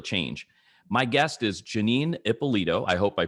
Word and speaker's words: Ippolito: Did I pronounce Ippolito correctly? Correct me if I was wrong. You did. You totally nailed it.